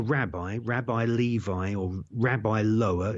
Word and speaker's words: Lowe: Rabbi Levi, or Rabbi Lower. It's spelled L-O-W-E, but it's pronounced Levi.